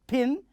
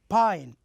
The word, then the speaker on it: pine: pin but what happens if there is an e at the end it is not pronounced as pin we have to pronounce it as Pine so here there is an e so we say Pine also we do the same